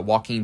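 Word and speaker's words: Joaquin: Walking Phoenix. I don't know why I always want to pronounce the J at the beginning of his his name because I don't know.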